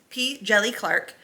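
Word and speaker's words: P. Djèlí Clark: And I did look up how to say his name. It is P. Jelly Clark.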